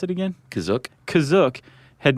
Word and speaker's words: Kashyyyk: to take place on their home planet of Kashyyyk, or Wookiee Planet C. Is that how you say it, Kashyyyk? That's how it's pronounced in the episode, the holiday special, but it's also pronounced different ways other times.